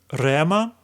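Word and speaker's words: ῥῆμα: The breathing mark above the letter rho is silent. We don't need to pronounce it.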